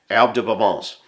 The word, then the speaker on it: Herbes de Provence: Salt, and one of my absolute favorite seasonings of all time, Herbes de Provence. And because my wife's a French teacher, I have to pronounce it that way.